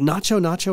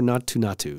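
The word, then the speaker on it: Naatu Naatu: Is it Nacho Nacho or Natu Natu? I have Natu Natu. It's spelled differently on Spotify on different... So it's spelled N-A-A-T-U is how I've seen it spelled, but I always hear it pronounced as Nacho.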